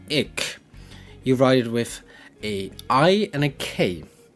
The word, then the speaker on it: ik: So the singular form for I is ik.